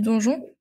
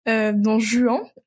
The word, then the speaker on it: Don Juan: Et d'ailleurs, en parlant de stéréotypes, tu l'as rapidement évoqué tout à l'heure, celui du donjon. Du donjon. Ça me dégoûte comment je l'ai prononcé. Don Juan, voilà.